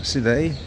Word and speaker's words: Side: Here we have the Seday Hotel, pronounced Seday, S-I-D-E, hotel here in Istanbul, in the old part of the city.